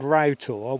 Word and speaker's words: Rough Tor: Now, why is it called Rough Tor when it's spelt rough?